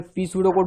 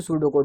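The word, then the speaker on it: pseudocode: फिर pseudo code, ठीक है, इसको मैं पी सूडो कोड बोल के लिखता हूँ तो कोई दिक्कत नहीं, बाकी उसको प्रोनाउंसिएशन है सूडो कोड.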